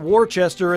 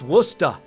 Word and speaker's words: Worcester: this upcoming season Massachusetts that's not warchester in the middle folks that's Worcester and you gotta say it like that Worcester so my old stomping